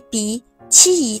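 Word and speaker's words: 荸荠: 很多朋友不知道马蹄是什么，马蹄也叫荸荠，读音 b 鼻七荠。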